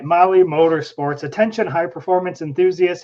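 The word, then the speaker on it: MAHLE: For our podcast listeners, Molly is spelled M-A-H-L-E.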